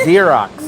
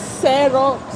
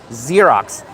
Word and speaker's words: Xerox: It's Xerox. No, they pronounce it as Serox. No, it's Xerox. Pronounced with a Z, not an S.